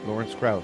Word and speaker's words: Lawrence Krauss: Your Lawrence Krauss, do I pronounce it correctly? Yeah, you got it right, Lawrence Krauss.